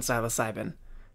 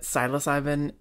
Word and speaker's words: psilocybin: This is a series where we talk about the research on psilocybin, the psychedelic prodrug found in magic mushrooms.